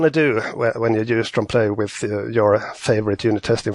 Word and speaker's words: Trompeloeil: So does now my attempt to pronounce this Trompeloeil? Trompeloeil.